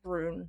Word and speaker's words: Ruhn: I really like Rune. I think that's how you say it. I looked up how to pronounce it and it said Rune.